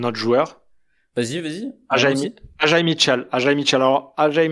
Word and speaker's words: Ajae: Comment tu dis, toi? AJ, non? Ah oui, AJ, ouais. Ah, bah après, il est belge, donc je sais Ah pas, oui, moi, les comment Belges, dire. ils prononcent Ajae, t'as raison. Pour le podcast, pour le podcast, on va prononcer Ajae.